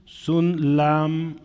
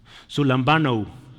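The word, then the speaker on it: συλλαμβάνω: Eh, se dice sun sun lambano, sun lambano, sun lambano. Bueno, esas palabras pues es que es otro idioma. No esperemos que se oiga bonito necesariamente. Sun lambano, ¿sí?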